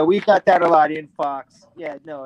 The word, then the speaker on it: Infaux: I was in a band called Info, but it was spelled like INFAUX, like fake information, because we were good at that.